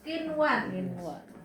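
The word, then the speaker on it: قنوان: Terus ada kata kinwan.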